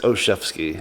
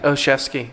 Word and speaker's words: Olshavsky: spell it. It's Oshevsky. Oshevsky.